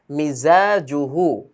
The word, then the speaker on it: مزاجه: এই জা জিম জিম জা একসাথে যদি আসে, অনেকের কিন্তু উচ্চারণ একটু হেরফের হয়ে যায়। তো আমরা চেষ্টা করব খেয়াল করে সেটাকে উচ্চারণ করতে, জাটা আসলে হচ্ছে কিনা, জিমটা আসলে পার্থক্য করতে পারছি কিনা।